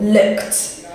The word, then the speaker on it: looked: a voiceless sound you then pair it with a t sound so looked i looked at you